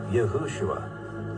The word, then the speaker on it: Yahushua: the pronunciation and spelling if they had never changed anything you pronounce Jesus's name as yahushua now one thing that